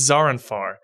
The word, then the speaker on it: Zaranfar: butchering it every time, but it's Zaranfar, and it feels like I'm butchering his name, but apparently that's how you pronounce it.